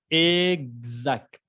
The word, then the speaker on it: exact: Y la palabra exact, exact. La X siempre se pronuncia como quiere, ¿no? Exact, como si fuera una G y una Z.